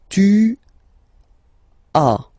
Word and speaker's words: tu as: Second one, tu as, okay. As usual in French, final s is not pronounced. Tu as, tu as, okay.